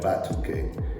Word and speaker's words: Ba2Kay: So we were looking through the Wolof language and stuff, and we found Ba2Kay. So it's spelled B-A-A-T-A-Y U-U-K-A-Y. Okay. Right, Ba2Kay.